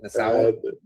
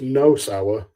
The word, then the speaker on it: Nosawa: How do you say that Asian guy's name? Nasawa? So it's Nosawa and Miyamoto.